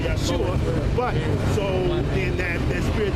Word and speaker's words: Yeshua: So Joshua in English, but Yahawashi in Hebrew. So he did get the right name. No, he got the right name, but the Yeshua is the wrong pronunciation.